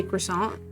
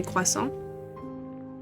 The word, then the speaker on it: croissant: I mean, if in English I'd say croissant, but in French I would say quason.